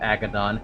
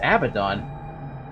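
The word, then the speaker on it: Agaddon: It is really actually pronounced Agodon. I thought it was Abdon.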